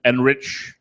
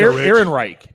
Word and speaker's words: Ehrenreich: Alden Enrich. Yeah. Where do I Fun. have him? No, it's Heinrich. Ehrenreich. Aaron Ehrenreich. There you go. What's he Alden from? Ehrenreich. You know, Alden I haven't Ehrenreich.